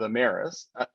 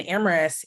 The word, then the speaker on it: Amyris: You by Tia is a joint venture with Amyris. Sorry, I mispronounced it.